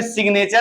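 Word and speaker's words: signature: है एन है एन एन के आगे भी शब्द रहेगा तो ये नियम लागू नहीं होगा तब जी का उच्चारण होने लगेगा जैसे इसमें साइन लिखा अभी मैं साइन की जगह प सिग्नेचर लिखता एस आई जी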